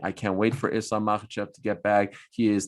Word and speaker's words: Makhachev: Makhachev is how you say it. Mm-hmm. Get it right.